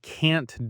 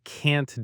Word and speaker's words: can't: And crucially, that final T in can't needs to be pronounced.